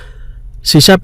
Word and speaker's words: C#: सी शार्प is pronounced as सी शार्प, SHARP, पर लिखने में है C#, और वो एक नई